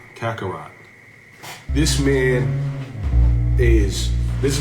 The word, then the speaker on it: Kakarot: This man, I said his name wrong, too. King Kako Kakarat. Kakarot.